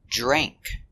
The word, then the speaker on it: drank: past we say drink using the long a sound like say and pay dre drank he drank all the